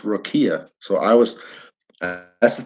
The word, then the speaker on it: rakia: questions which is okay you know rakia is pronounced Rokia so I was that's the third thing I'm